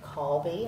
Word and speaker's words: Colby: colby and uh you pronounce it call be i'm gonna keep correcting people in dublin until they pronounce it correctly but um i'm uh